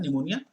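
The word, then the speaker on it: pneumonia: bytes meningitis and निमोनिया इस silent होता है निमोनिया Haemophilus Haemophilus infra type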